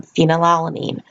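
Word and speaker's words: phenylalanine: a note all of these terms like the names of the different nitrogen bases or the names of these amino acids all tender rhyme with the word scene or team so for example you pronounce them phenyl alanine serine tyrosine cysteine leucine prolene glutamine etc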